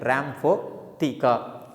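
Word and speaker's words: rhamphotheca: Correct pronunciation, Rhamaphotheca.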